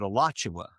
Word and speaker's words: Alachua: The locals, they pronounce it Alachua.